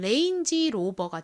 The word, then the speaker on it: Range Rover: 포기하니까 레인지가 되겠네요 그래서이 차 모델 이름을 읽어보면 레인지로버가 됩니다이 레인에는 범위라는 의미가 있어요은 아까 말씀드렸듯이 방하는